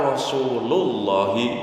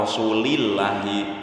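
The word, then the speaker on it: رسولُ الله: Enggak boleh dibaca qala rasulillahi. Enggak boleh. Qala rasulullah, harus dhammah.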